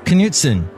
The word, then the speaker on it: Knutson: Knutson. Yeah, you can pronounce the K.